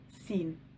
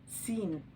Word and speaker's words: س: The letter Sin. It is like the letter S in English. It is pronounced S. S. The letter Sin.